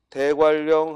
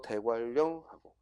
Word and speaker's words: 대관령: 그래서 대관령이라는 낱말을 대관령 하면 발음하면 표기에는 니은 리을이지만 발음하면 어떻게 돼? 대관령 리을이 발음된단 말이야.